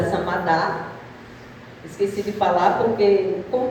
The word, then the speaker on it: Samadah: Meu nome é Samadá, esqueci de falar porque como meu nome é um pouco diferente, então eu gosto de falar meu nome, a pronúncia, Samadá.